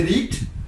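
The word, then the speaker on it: read: इसको पढ़ेंगे रीट, इसको पढ़ेंगे रेट, इसको भी पढ़ेंगे रेट।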